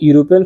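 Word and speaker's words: European: ई से तो यूरोपियन शब्द का शुद्ध उच्चारण यू से शुरू होता है। जो कि एक व्यंजन संधि यानी कंसोनेंट साउंड है।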